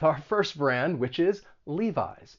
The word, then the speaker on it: Levi's: they make jeans and both of the vowel sounds they're they're long vowel sounds leave eyes sometimes i've heard people say levees but just remember it's a long e levi's then we have bows